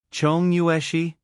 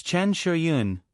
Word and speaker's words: Chen Shiyun: "Chong Yueshi?" Lu Weisha repeated, but her pronunciation was completely wrong. "It's Chen Shiyun, not the one you're talking about."